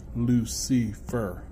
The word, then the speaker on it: Lucifer: not once is Satan's name Lucy fur as in three syllables is usually two dragon